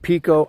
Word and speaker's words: Pico: In Portuguese, it's pronounced Pico, right? But in English, we would call it Pico.